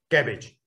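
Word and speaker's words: CABG: a coronary artery bypass crafting are usually pronounced as a cabbage in general with respect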